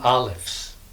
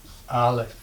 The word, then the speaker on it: Aleph: But in Hebrew, they don't make the glottal stop typically. We just pronounce whatever vowel happens to be under it. Whatever vowel comes with it, that's what we pronounce. So, let's write some Alephs. Aleph. It's silent, so we'll just go Aleph.